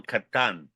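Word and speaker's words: Catán: and it was written in 1992 by Daniel Catan. Did I pronounce Yes.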